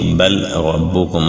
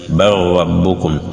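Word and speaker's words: بل ربكم: Au lieu de dire bal rabbukum, on va dire bar rabbukum.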